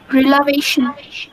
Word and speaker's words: relation: The stress is on the syllable before TION. So when you give me a word, example, please use the stress and give me. Once again. Relation.